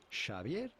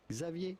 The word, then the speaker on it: Xavier: this would be pronounced Javier is with a J anyway Shier in Spanish Xavier in French or Xavier in English the original pronunciation would